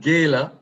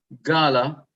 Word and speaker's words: gala: and Thanksgiving showcase and Gaya uh that's what it's that's how it's pronounced in America in Jamaica of course we say Gala and uh we are